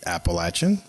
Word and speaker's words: Appalachian: Anyway, after graduating from App State, and I'm not going to even bother trying to say Appalachian.